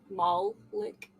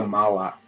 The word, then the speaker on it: Moloch: I don't mean to laugh, but they live in the mall lick. Mall ick. No, they're the Moloch. Moloch. How do you say it? Moloch. Yeah, you got it right, roughly.